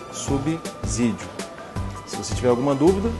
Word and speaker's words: subsídio: nenhuma E por quê Porque o s só pode ter som de z quando ele está entre duas vogais é o caso por exemplo que acontece com a palavra casa que está grafada aqui você percebe que o s está entre duas vogais por isso com o som de z então a palavra é subsídio e não subsídio se você tiver alguma